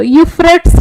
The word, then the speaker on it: Euphrates: एटा आ एटा ए दीटा जिनस देखियो केमती प्रोनाउंस करबो यूफ्रेट्स river that was recently seen in news originates in which region Tibetan Plateau Armenian Highland Deccan Plateau Zagros Mountains सुनछ केबे सुनत so this is a Euphrates river हला Syria news रे थिला चल continuously